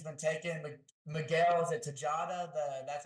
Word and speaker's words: Tejada: Miguel, is it Tejada? That's how you pronounce it.